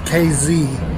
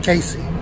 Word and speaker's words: Casey: to Casey Illinois yeah it's pronounced KZ not chasing back in August of